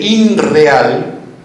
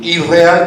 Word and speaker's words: irreal: Por eso irreal viene de inreal, y si lo intentamos pronunciar es más fácil, irreal que inreal.